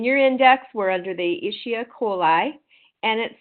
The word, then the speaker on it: Escherichia coli: And so that infectious organism is, and I spelled it out for you because we always just call it E. coli, but I believe it's pronounced Escherichia coli.